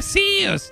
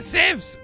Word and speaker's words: Zeus: här men det heter Zeus det heter sevs man kan säga båda o faktiskt båda vikt